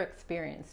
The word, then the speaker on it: experience: What other experience do you have? Okay. ¿Qué otra experiencia tienes? Other. La O es como A de español. Experience. En este caso la C al final se pronuncia como una S.